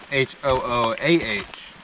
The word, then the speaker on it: Hooah: No hoorah, that's the Marines. I hear the same thing. H-O-O-R-A-H is Marines. H-O-O-A-H is Army. Hooah.